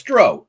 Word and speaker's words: drow: Oh, it's Dro. O-W, like row the boat, right? Like, yes, exactly. Fuck yeah. That's what I've been saying for 30 years. Everybody says drow. Bullshit. But either one is fine. Either one is acceptable according to Dragon Magazine.